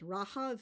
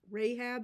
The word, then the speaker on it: Rahab: about the character Nam her name is rahav in um Hebrew but the the Christian um pronunciation or transliteration is Rahab and like we do